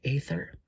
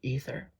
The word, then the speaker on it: Aether: those earlier unravel the Aether or ether uh I think it's pronounced ather but I know that's quite a debate uh on how to